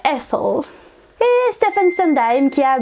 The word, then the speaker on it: Ethel: le rôle de Rose, en anglais tu le prononcerais Ethel, et Stephen Sondheim qui